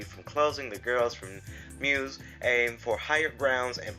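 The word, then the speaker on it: μ's: school idol group called Muse uh pronounced Muse uh of course it says it has a u but it we you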